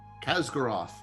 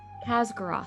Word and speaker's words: Khaz'goroth: Pronunciation, please, again? Khaz'goroth. Khaz'goroth, thank you.